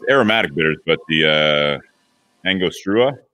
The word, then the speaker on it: Angostura: I am not good at pronouncing this. It says it's aromatic bitters, but the Angostura? Angostura, yeah.